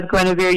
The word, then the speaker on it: Guenevere: pronouncing correctly or not that's correct grenadier spells with four e's four e's brian all right now she is a total total ash brian person with the east if you forget if you forget my name as gwenevere you can just say give me a beer because it rhymes with grenadier yeah we love her